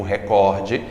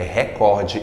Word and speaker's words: recorde: A pronúncia é recorde e não recorde, como a Renata Vasconcelos do Jornal Nacional disse em tempo. Nós batemos mais um recorde. Não, não é recorde, é recorde, é paroxítono nessa palavra.